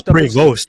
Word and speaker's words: Prevost: The emphasis, the emphasis is on the second syllable.